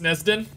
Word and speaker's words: Nezdon: Nezdon says, it's probably because you've been pronouncing my name how it's spelled. It's actually pronounced Nezdon. Nezdon.